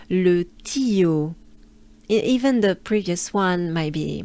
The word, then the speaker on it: Le Tillot: So this name sounds like this, not the way it's spelled. Le Tillot.